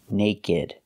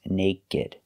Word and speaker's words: naked: is naked that's right it does not come from a verb so it is pronounced naked you cannot say nate it is naked we pronounce the ed